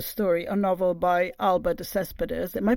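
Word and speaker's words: de Céspedes: side of the story a novel by Albert Des Cespedes am I pronouncing it correctly by the way yes that's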